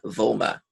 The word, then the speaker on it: Vollmer: been nominated by Ben Vollmer. And Ben, when you watch this note, I pronounce the V, the L, the M, and the R.